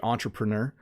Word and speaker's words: entrepreneur: Entrepreneur. So this word, obviously, when we pronounce it in English, we say entrepreneur. In French, you would say entrepreneur.